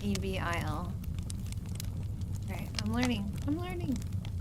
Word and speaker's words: Evel: It's evil. It is. Holy shit. I never knew that. Daredevil Knievel. It's evil Knievel, like E-V-E-L. Yeah, his name has always been. That's wild. Not E-V-I-L.